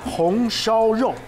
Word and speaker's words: 红烧肉: 红烧肉. 红烧肉.